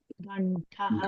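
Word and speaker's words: घण्टः: When you pronounce ghantaha, even the modulation is touching your hard palate.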